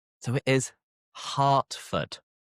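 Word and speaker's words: Hertford: Hurtford. The vowel is weird again. So we pronounce the e like an a. So it is heartford. Hartford. Hartford.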